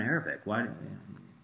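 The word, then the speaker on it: عربي: That three makes, this word is Arabi. It's mostly like an A, but it has like a throat thing. It's Arabi. It's the letter Ayn.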